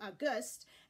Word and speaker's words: august: is capitalized or lowercase the perfect example of this is the month we're in August August when it's capitalized is a month of the year if we lowercase this word it changes pronunciation to August and it means something revered or something very important this also happens with